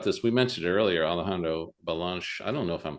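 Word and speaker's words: Belanche: And how do you pronounce his last name? Balanche.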